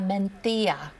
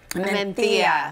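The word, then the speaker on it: Mencía: So this is a Pinot Noir substitute or an alternative, I should say, from Spain, and it's a Mentilla. Mentilla.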